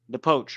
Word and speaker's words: Pochettino: Cyrus Atkinson, the Poch rhymes with coach, by the way.